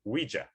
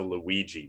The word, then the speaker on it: Ouija: we and yeah so ouija the ouija board some of the mispronunciations you see of this online are are really hilarious though you know like like how do you use a luigi board or or something like